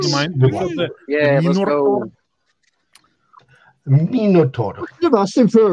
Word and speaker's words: Minotaur: Well, the bit I most dislike, though, is the pronunciation of A-U-R as R when it should be or. It should be. Minotaur, definitely.